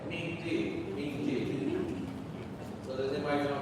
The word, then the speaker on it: miti: Because what I was taught is that miti.